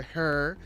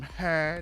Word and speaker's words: He: dude was pretending minister her you know saying because that that's how they pronounce his name her not he so um it's kind